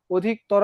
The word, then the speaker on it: অধিকতর: এবং বলছি শব্দের শেষে যদি অ থাকে, সেই অটা কিসের মতো হয়ে যায়, ওর মতো হয়ে যায়। অনেকক্ষণ থেকেই বলছিলাম যে অধিকতর, অধিকতর উচ্চারণের ক্ষেত্রে অধিকতর অনেক লম্বা করা যায়, শেষে অ আছে, এই জন্য অটার উচ্চারণ ওর মতো হয়ে গেছে।